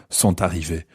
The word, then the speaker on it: sont arrivés: yeah, or les garçons sont arrivés. Okay, in that case, you probably would pronounce the t of sont arrivés.